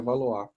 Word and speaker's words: Valois: Se escreve Valois, tá? Mas é na família Valois.